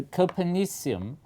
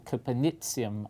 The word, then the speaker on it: Copernicium: So Copernicium, or Copernicium as the discoverers would prefer it to be pronounced, is the latest name to go up on the periodic table, and it's really very exciting.